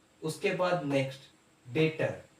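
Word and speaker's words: debtor: था उसके बाद नेक्स्ट बेटर इसमें बे साइलेंट होता है उसको डाक्टर नहीं बोलता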